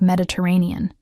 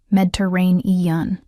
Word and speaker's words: Mediterranean: Andre listened with an attention I hadn't expected, asking questions, laughing at Noah's pronunciation of Mediterranean. It came out as Medrain eun.